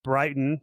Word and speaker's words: Bryton: used when you're like Brighton just like the ski resort.